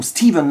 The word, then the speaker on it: Stephen: Stephen Lack, voilà, ou Steven Lack si vous préférez, puisque le prénom Stephen en VO va se prononcer Steven.